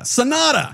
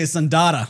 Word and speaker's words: Sanada: Hiroyuki I have to look at his name because I have trouble pronouncing it. It's Hiroyuki Sanada. Sanada. Yeah. I was going to say Sandada.